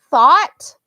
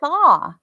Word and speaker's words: though: though so it's not you'd think it it should be thaw but it's not thaw it's though even the th sounds